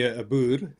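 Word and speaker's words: Boer: well the the word bur as a racial slur towards Africanis. Obviously, we don't care. So, so I mean, if you call me Abur, that's how you pronounce it.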